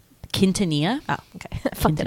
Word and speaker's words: Quintanilla: Quintanilla.